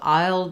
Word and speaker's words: I'll: is for I will think of aisle it's the same as this kind of aisle so I'll be in the grocery